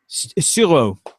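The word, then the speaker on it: Tsuro: So no, it's pronounce it Suro.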